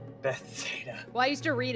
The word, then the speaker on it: Bethesda: I will I used to be pronounce it as Bethsaida. Bethesda. Well, I used to read it that way. I don't know why. I heard somebody refer to it as Bethuda one time, and I was like, The weirdest